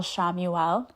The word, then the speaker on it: Chamuel: we're going to talk about today is Archangel Shamuel. It's c h a m ue e l. I say that because it doesn't you wouldn't think that's how you would pronounce it, but it is. Um, Archangel Shamuel is the one who sees God and he